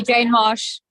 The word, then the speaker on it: Janmashtami: Happy Janmashtami.